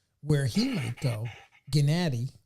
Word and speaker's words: Gennady: where he might go Gennady that's how you're supposed to say his name Gennady Golovkin but you